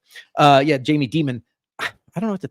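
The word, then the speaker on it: Dimon: Um Jamie Diamond and company. Oh, Jamie Demon. I'm sorry. I mispronounced your uh I mispronounced your um your chat here, your XMR chat tip. Uh yeah, Jamie Demon.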